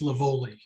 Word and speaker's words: Lavoli: Tom, I believe her name is pronounced Lavoli.